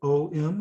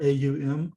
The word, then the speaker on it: Om: Uh here we have the om syllable om or au m om.